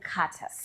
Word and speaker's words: Curtis: And ladies and gentlemen, help me welcome Soila and Curtis. Is it Curtis or Curtis? Curtis. Curtis. Actually, the T is silent. So it's Curtis.